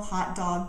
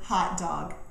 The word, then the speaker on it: hot dog: pronunciation of the word hot dog there is a common mispronunciation that often happens although it's not so much a pronunciation problem as it is a word stress problem and let me explain